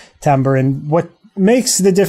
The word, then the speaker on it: timbre: themselves it's called timbre it's spelled kind of like timber but it's timber and what makes the